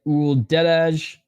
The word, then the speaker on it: Uldedaj: nice right hand by o deage clinching there was Ward okay the J is silent got you 1 minute